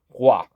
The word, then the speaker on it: Roy: Nicholas Waugh, which he is from Quebec, so if you see Roy and he's from Quebec, you say Waugh.